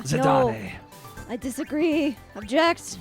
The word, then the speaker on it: Zidane: It's more like the French. Yeah, Zidane.